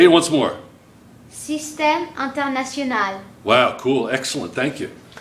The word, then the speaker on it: Système International: Système International. Say it once more. Système International. Wow, cool. Excellent. Thank you. Now you heard it right here first, man. That's French. That's French. And that's how you say it.